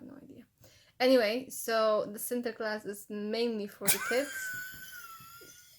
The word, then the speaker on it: Sinterklaas: Sinterklaas, that's how you say it? Yes.